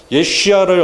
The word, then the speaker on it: 예슈아: 우리가 예수님이라고 하는 그 예수는 예슈아라고 하는 발음에서 나온 것이죠. 그게 이제 우리나라에서 한문으로 중국에서 한자로 기록하다 보니까 예슈아를 어떻게 발음할 수가 없지 않습니까? 그러다 보니까 짧아지면서 예수님이라고 나온 거죠. 그죠? 그래서 우리는 본 발음을 한다면 예수님은 예슈아입니다.